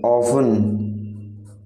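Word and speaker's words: often: अक्सर का मतलब है ऑफन। ऑफन, तो ऑफन में जो साइलेंट लेटर है वो है टी। आप ऑफन को प्रोनाउंस करते समय टी का यूज नहीं करते हैं।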